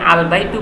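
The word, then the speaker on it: الْبَيْتُ: আলবাই বা যদি আমি আলবাইতু বলি তখন দেখা যাচ্ছে যে কি আল বাইতু লামটাও এখানে উচ্চারণ হচ্ছে সুতরাং এইযে বা হরফটা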